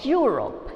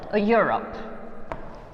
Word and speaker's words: Europe: a u sound correct so a uniform or europe yeah your sound okay even though it's beginning with the with the verbal letter europe see here can you